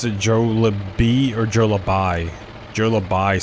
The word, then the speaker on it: Jollibee: But the correct pronunciation is Jollibee. Jollibee. Jollibee.